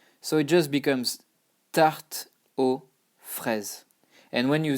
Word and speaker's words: tarte aux fraises: But you know that you don't pronounce it, you don't pronounce the X, you don't pronounce the S. So it just becomes tarte aux fraises.